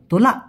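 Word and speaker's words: tolak: শোনা যায় তোলা বলতেছে কিন্তু লাস্টে একটা ক ছোট্ট করে উচ্চারণ করতে হয়। এজন্য হবে তোলা।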